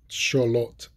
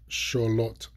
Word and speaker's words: Xolotl: So I'm going to pronounce them. Axolotl, Axolotl, Axolotl, Xolotl, Xolotl, Xolotl.